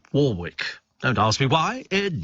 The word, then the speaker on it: Warwick: her in concert Dion Warwick and it is pronounced Warwick not Warick it's Warwick don't ask me why it just is uh